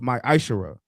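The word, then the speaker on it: מעשר: Malachi chapter 3 8-10 means 10th in the Hebrew and is pronounced my eyesher 10% of every penny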